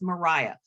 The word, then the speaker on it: Maria: always get Mariah Mitchell Mariah and it is pronounced Mariah Mariah Mitchell from the 19th century she was